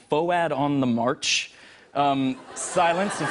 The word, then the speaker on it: FOAD: Yeah, and it's spelled F-O-A-D, so everyone, if they saw it written, would say, you know, Foad on the March. And we're like, it's not Foad, it's Foad.